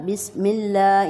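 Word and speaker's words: بسم الله: بس سیٹی کی آواز، بسم اللہ، یہاں پہ ہم لفظ اللہ کو اب بولٹ نہیں بولیں گے، باریک بولیں گے، کیونکہ لفظ اللہ کے لام سے پہلے زیر آئی ہے۔ بسم اللہ الرحمن، ہر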